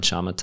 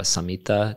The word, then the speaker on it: samatha: vipassana, which is insight, and then shamatha or samatha, depending on who you talk to or how you pronounce it, which means tranquility.